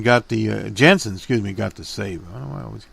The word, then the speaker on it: Jansen: Jensen got the Jansen, got the save. I don't know why I always call him Jensen. Is it Jensen? No, Jansen.